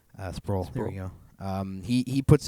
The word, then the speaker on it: Sproul: Sproul.